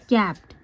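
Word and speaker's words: capped: रही मैं young man कैपड इसको क्या पढ़ेंगे कैप्ड यह आधा प है क्योंकि देखि जब भी कोई कॉन्सोनेंट के बाद डायरेक्ट दूसरा कंसोनेंट आता है तो उसको हम जल्दी बोलते हैं यानी कि कैप्ड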